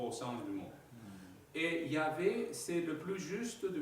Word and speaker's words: Yah: Donc, là, on voit que le mot se prononce Yah, et pas Jéhovah. D'accord? C'est Yah.